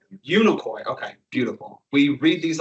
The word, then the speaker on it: Unicoi: Unicoi.